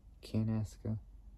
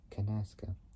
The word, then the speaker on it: Canasa: a team uh kasasa canasa Southwind like saying Canada like Canada but taking out the D and the A and putting the S the K and the a onto get canasa which is spelled c a